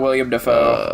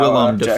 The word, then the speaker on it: Willem Dafoe: It's not William Dafoe. I'm telling you that It's now. Willem Dafoe, Jackson.